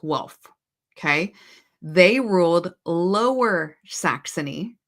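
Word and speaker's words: Welf: Now the House of Hanover was a is a offshoot of the house of wealth, which is gu and it's pronounced Wolf.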